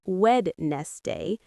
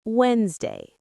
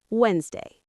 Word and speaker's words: Wednesday: But we don't say wed nest day. We say Wednesday. The D is silent. Wednesday.